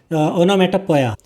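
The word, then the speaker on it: onomatopoeia: Such sound words such sound words are called ओनोमेटोपोई ओनोमेटोपोया। इसकी जो सही प्रोनाउंसिएशन रहेगी वो रहेगी ओनोमेटोपिया।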